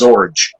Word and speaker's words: Zorge: John Dee, he said this name is just pronounced Zorge, rhymes with George.